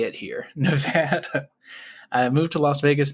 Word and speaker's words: Nevada: That's how they say it here, Nevada.